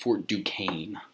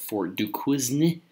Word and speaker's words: Fort Duquesne: It's pronounced Fort Duquesne. Okay, I know it looks like Fort Duquesne. Okay, but it's Fort Duquesne.